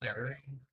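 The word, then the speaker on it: Larryo: Lario.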